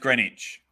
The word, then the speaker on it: Greenwich: It's pronounced Greenwich. Spelled Greenwich. I did say Greenwich, didn't I? Oh, I can't remember. Maybe I didn't.